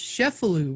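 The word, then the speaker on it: Cefalù: There's a lot of people from New Orleans that look at Cefalu as their hometown. Yeah, I know you were telling me all about that. And it's also pronounced Cefalu, right?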